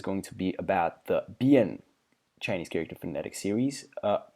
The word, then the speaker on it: 辡: So this particular phonetic series is led by this big character over here, which is pronounced Bian.